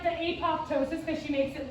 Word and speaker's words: apoptosis: some Wendy videos and Wendy very clearly pronounces the second P which I think is really funny but it's not like that's not how Latin works so she says apoptosis which I'm fine if